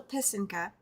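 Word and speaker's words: писанка: It is a Ukrainian pisinga, which is a Ukrainian Easter egg. She went over the pronunciation multiple times. That's why I had to think about it. But it is called a pisinka.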